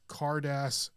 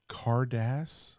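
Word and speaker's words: Carddass: planet, Pokemon, the 1996 Cardass Pokemon vending series cards. Cardass. Cardass. Can you spell this? That's how you say it. Card ass.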